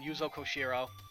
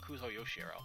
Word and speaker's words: Yuzo Koshiro: this is really again yuzo koshiro I think I'm pronouncing his name right it's not kuzo yoshiro no it's koshiro I gotta stay hydrated